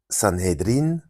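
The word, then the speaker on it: Sanhédrin: Ça c'est la bonne prononciation. J'ai vérifié aussi en fait le sanédrin euh prononcé en arabéen d'ailleurs, c'est c'est prononcé comme ça aussi en yidich San sanhedrin euh c'est un mot araméen qui est une qui est en réalité une déviation du grec sonedrion.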